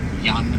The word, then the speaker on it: Jan: Jan is the spelling and Jan is the pronunciation.